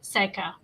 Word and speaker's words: Saikia: super excited today to welcome professor seika uh so professor seiki am i pronouncing that correctly yes professor okay um you